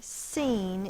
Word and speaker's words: scene: words here it is the SC is going to say the S sound you have to know which words this occurs in okay seen is one of those words s is spelled with the S C the C is silent